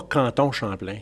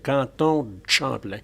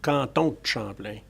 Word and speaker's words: Canton de Champlain: Because if you say it right or say it properly, c'est pas Canton Champlain, c'est Canton Champlain. So you do pronounce the DE, but you tend to drop the E, so Canton Champlain.